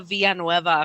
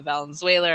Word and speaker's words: Villanueva: It would be too hard to be like Ava Villanueva for everyone. They were never able to say it right, or they'd always say Valenzuela or mess it up in some way.